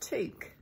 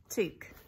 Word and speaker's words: toque: It took me a while to learn how to say it, but it's toque, toque.